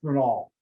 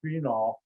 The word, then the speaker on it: phenol: that's not called benzol it's called phenol now some of you've heard pronounced sphenol which is incorrect i worked at a